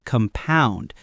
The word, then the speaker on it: compound: As a verb, when you're talking about things increasing, it's compound, stress on the second syllable.